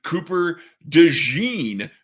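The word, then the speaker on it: Cooper DeJean: with a little bit of an injury a Cooper Deen who I know Kent I finally said it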